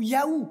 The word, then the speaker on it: Yahweh: Il y a là, si on avait été en hébreu plutôt qu'en grec, ça aurait été traduit par le fameux tétragramme, YHWH, qu'on prononcerait Yahweh ou Yahou, le nom puissant de l'Éternel.